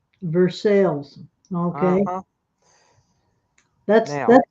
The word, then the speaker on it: Versailles: That's not how it's said. That's how it's said normally. Here it's called Versailles. Versailles.